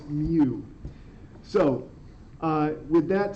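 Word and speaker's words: mu: that but it's it's it's supposed to sound like a cat not like a cow not moo it is Mew so uh with that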